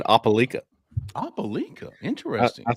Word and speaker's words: Opelika: Jeffrey, I heard a new pronunciation of Opelika the other day from a Florida fan that I was talking to. He said Opelika.